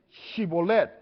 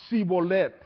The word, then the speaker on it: Shibolet: decían ahora pues di shibolet y él decía cholet Cuál es la diferencia aquí entre shibolet Y sibet qué es lo que ven no más la H no bien interesante porque